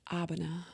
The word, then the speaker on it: Abena: up like this and let's pronounce it right give it to the people my name is abana did y'all hear that